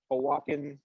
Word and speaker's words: Oaxacan: a Oaxacan parade, and they're actually bringing a Oaxacan, said it right that time?